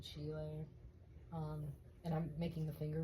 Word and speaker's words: Schiele: I'm sure a lot of people know him, or it could be pronounced Schiele as well, but my teacher said Schiele.